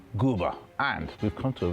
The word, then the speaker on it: Quba: We are actually in a place called Gooa. It's actually written with a Q. But here in Azojan, they pronounce the Q like a G. Gooa.